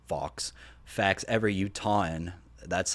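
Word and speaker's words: Utahn: law um 13 liquor F fox facts every uton that's how you say it that's how you pronounce it uton U UT hn uh let's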